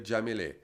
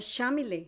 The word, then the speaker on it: Yamilet: Eu estava aqui pensando, porque o teu nome é com, né? E em alguns países de fala espanhol, de língua espanhola, o se pronuncia de outro jeito, né? Sim, se pronuncia como J no Como J. português, né? Então você falou certo, Jamile. Jamile. Em Cuba é Jamile. Na Argentina você tinha falado é com CH. Mais puxado, Chamile. Chamile.